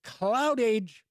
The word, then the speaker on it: Cloudage: Now available from Capstone Games is Cloud Age, or it could be pronounced Cloudage, but I do think it's Cloud Age.